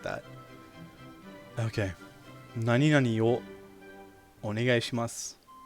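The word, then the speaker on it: を: Nani nani o onegai shimasu. This o is W-O in Romaji, but it's pronounced as o.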